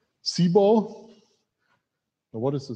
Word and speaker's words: CBOR: and it's binary so how do you pronounce this c ball and what is the